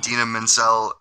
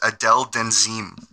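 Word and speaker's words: Idina Menzel: to go introduce and dina manziel mistakenly pronounced her name as adele denzeem i don't know how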